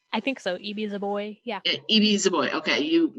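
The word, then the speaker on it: Ibi Zoboi: club, our YA book club book, Pride by E.B. Zoboi. Is that how you pronounce her name? I think so. E.B. Zoboi.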